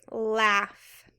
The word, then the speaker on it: laugh: hope you do too this word is laugh now it doesn't really follow our rules right so this is one you just gotta remember laugh let's spell it l